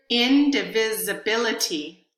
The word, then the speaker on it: indivisibility: indivisibility indivisibility their stress there's a little bit of stress on in there's the most stress on bit and there's a third level of stress on vit but the syllables disability don't have stress and they are unstressed indivisibility so if you